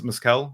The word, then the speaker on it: mezcal: I hope you like Miss Kells is miscal am I pronouncing it right yeah that's right sure that sounds good